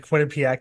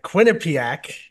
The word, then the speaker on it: Quinnipiac: This is Quinnipiac. great. I've been pronouncing it right for decades.